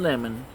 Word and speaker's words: Lemon: he's pronounced different but I don't see no difference between the word lemon and his last name so it's Don Lemon however let's get to